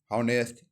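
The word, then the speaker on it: honest: साथ ए लगेगा example an apple N house silent H है वोवेल में एन ऑनेस्ट मैन डिफाइंड देखिए बोलने से ए इ आई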